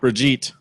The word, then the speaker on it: Brigitte: Brigitte.